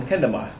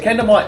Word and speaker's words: kendama: your own stone cone kendama. So kendama translates to sword and ball, where ken means sword and tama, spelled with a T, means ball.